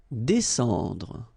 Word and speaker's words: descendre: Descendre. Well, even if you've got this combination of S and C here, you just pronounce it S.